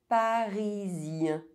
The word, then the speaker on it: parisien: Parisien. Européen. Otherwise, EN is pronounced en.